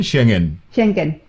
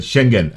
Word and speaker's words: Schengen: Ano ba pronunciation? Schengen? Schengen. Yeah, Schengen. visa. That's a proper way of pronouncing it. Schengen.